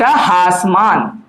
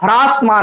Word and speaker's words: ह्रासमान: ठीक है, ये क्या है आपका, इसको कहते हैं एक दिष्ट हासमान। हास मतलब कम होना। ठीक है बच्चों, हालांकि हम लोग हासमान बोलते हैं और सही उच्चारण तो उसका ह्रासमान होता है।